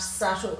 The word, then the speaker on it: subtle: and the c sound det doubt subtle and succumb all have a sign of b in them and in depth out of the subtle you can see it's followed by the t so we're sounding the t not the b um and in yacht